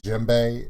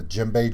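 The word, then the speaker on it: djembe: pretty sure the d is silent similar to jimbei it's he is silent people don't realize that a jimbei drum starts with the d j e m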